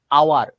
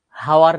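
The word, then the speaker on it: hour: কিন্তু আওয়ার, হাওয়ার না তো, আওয়ার।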